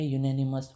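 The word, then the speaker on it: unanimous: आपका हो गया गलत ये है यूनेनिमस इसका यूनिवर्सिटी भी like university is also you this is नॉट अ वो वोवेल साउंड नहीं है यूनिवर्सिटी में ठीक है ये अ यूनिवर्सिटी होता है।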